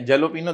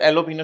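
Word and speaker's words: jalapeño: हैं आप लोग, ऑनियन पहले जेलोपिनो देखने में लगता है, एलोपिनो शायद उसको बोलते हैं लोग, जे साइलेंट होता है, एलोपिनो अलग बेचा है और शीनोमिनो अलग बेचा है।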